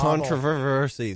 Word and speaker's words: controversy: But they put the emphasis on the wrong syllable. Controversy, Susie.